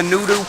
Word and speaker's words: noodoo: Some people pronounce it the noodle plant, but it's actually the noodoo plant.